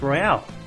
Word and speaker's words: Royale: Why are you uh why would you even want to do a battle royale? I wanted to say Royale so badly, but it's actually pronounced royal, and it's so damn annoying.